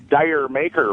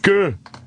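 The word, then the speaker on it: D'yer Mak'er: I was going to talk to you about the famous contraction of Dire Maker by Led Zeppelin. That's how a lot of people pronounce it. Jamaica.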